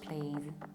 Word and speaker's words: please: This is exactly why, because PLZ reflects clearly the pronunciation of this word.